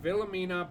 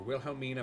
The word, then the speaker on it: Wilhelmina: The plaque reads Lady Villamina Blake or Wilhelmina Blake, whatever you want to pronounce it. I usually pronounce Germanic sounding names as V's.